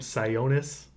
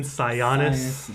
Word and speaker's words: Sionis: was the fact that they pronounce his last name sigh onus oh it's Roman sionis yeah as soon as